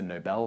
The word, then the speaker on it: Nobel: My favorite one was I once did a video where I pronounced the Nobel Prize as the Nobel Prize for people who are being noble. Not that, it's the Nobel Prize, named after Alfred Nobel.